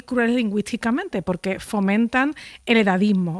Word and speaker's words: edadismo: Se dice edadismo con 2 Ds, no se dice edaísmo, tampoco, aunque se dijo en